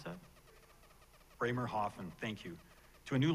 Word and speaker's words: Bremerhaven: How do you pronounce that? Bremerhaven, thank you, to a new life in Canada,